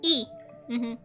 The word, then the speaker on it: y: So the and is pronounced the same way. Oh, I see. So yeah, it's E. Señor y señora, but it's with Y.